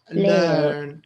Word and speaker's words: learn: And in the last one, again, EA again, but it's pronounced learn, learn, earthquake.